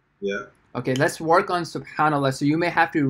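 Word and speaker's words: سبحان الله: Subha Allah. Okay, no. And then you see the word N there. You have N. N for Nathan, right? Subhanallah.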